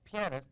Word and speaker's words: pianist: it pianist or pianist well no it's pianist because he plays a piano he's not you don't